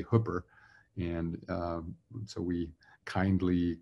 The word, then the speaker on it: Hooper: And probably a lot of you are noticing that at first glance, you might expect this to be pronounced Hooper, but we say Hooper.